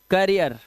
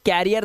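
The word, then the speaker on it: career: पढ़ते हो कर रियर करियर ठीक है ठीक है ये क्या है करियर यह कैरियर नहीं है। कैरियर नहीं है। इसे कैरियर नहीं पढ़ते। गलत लिखा है यह। इसे पढ़ते हैं करियर।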